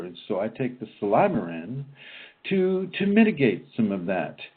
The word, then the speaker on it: Silymarin: And I always pronounce it Silymarin. It just seems to make so much more sense to me that way. But it's spelled S-I-L-Y-M as in Mary, A-R-I-N as in Nancy. Silymarin.